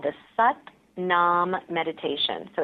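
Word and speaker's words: Sat Nam: or that you're doing this it's called the set nom meditation so it's spelled s80 pronounced set and then naam na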